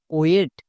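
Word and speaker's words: wait: যেমন এক্সাম্পল দেখো, ডব্লু আই টি ওয়েট, এর উচ্চারণ হয় ওয়েট।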